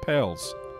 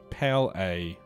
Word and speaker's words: Pales: the delicate situation with Pales. It's Pally. Pal A. Pal A, Mr. Manager. Rhymes with ballet.